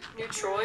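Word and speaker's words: Neutrois: Neutroi, it is spelled like N-E-U-T-R-O-I-S, so I could be pronouncing it wrong.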